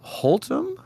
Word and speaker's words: Haltom: We know his first name is, and I believe his last name is Haltom. Is that correct? Yeah, okay, Haltom. I said it right. Yes. You said it correctly, yes.